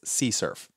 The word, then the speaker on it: CSRF: us to prevent it cross-site request forgery is often abbreviated as csrf and sometimes pronounced as curf what is csrf imagine